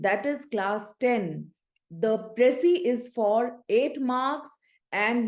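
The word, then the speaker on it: précis: talk to you about pressy writing yes pressy writing P re e c i s s is silent here all right children are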